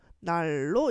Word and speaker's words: 난로: 다른 부분들 보면은요, 난로라고 하죠. 얘도 발음해보면요, 리을하고 니은하고 리을하고 만났을 때 니은이 리을로 변하는 유음화 현상이 일어나서 날로 이렇게 발음하고요.